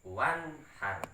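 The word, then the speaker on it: وانحر: Jadi ini bacaan izhar, nunnya itu jelas. Wanhar, begitu cara bacanya. Tidak boleh dengung, ya.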